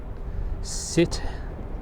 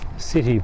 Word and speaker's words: Sète: We're at some salt marshes just north of Sète, but up around this whole area there's lots of flamingos. So we stayed the night in Sète or Sète, S-E-T-E. It's probably supposed to be pronounced Sète.